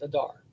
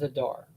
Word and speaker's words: Adar: made it into the word Adar, where they pronounced it as Adar. So Adar is spelled month and grain, but it's pronounced as Adar for the month name.